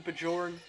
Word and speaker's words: Bajor: You do pronounce the J. Addison Bajorn, the 17-year-old, highly touted prospect in the class of 2026.